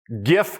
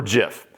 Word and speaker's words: GIF: GIF or GIF. Now, it's graphics interchange Dude, format. don't. It's a hard G.